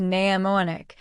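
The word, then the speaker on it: mnemonic: A pneumonic pronounced neamoic is a funny little trick to help you remember something.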